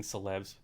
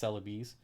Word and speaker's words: Celebes: I keep saying celebs, but apparently it's called celeb. How do you pronounce it? Celebes. Apparently it's pronounced celebes, but I say celebs.